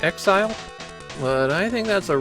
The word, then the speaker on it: XZR: The Japanese text indicates that XZR is supposed to be pronounced Exile, but I think that's a real stretch.